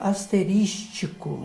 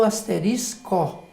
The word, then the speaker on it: asterisco: E a gente dá até razão às pessoas, porque parece que é mais agradável ao ouvido você pronunciar asterístico, né?